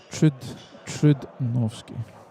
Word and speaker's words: Trudnovsky: U is pronounced like ooh, Trudnovsky.